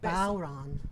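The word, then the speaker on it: bodhrán: a bow and a man's name Ron. It's the Gaelic. Bowron.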